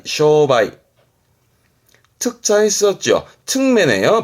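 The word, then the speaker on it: 商売: 때 이제 상메를 써 가지고 발음 쓰게 됩니다 발음은 쇼바이 쇼바이 특자 있었죠 매네요 발음은 토바이 토바이 특별 판매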